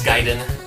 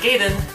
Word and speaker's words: Gaiden: It's Gaiden. Ninja Gaiden. It's not Gaiden.